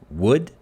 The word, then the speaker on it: would: have combined basically so I don't pronounce the L the would but I say would